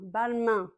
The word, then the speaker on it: Balmain: Un, c'est vraiment avec le nez 1 comme dans de main l'envin Balmain que nous avons vu aujourd'hui